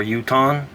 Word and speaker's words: Jotun: In the English language, the letter J is the only language in English that's pronounced J, while all other languages throughout the earth pronounces it Ya or Ha.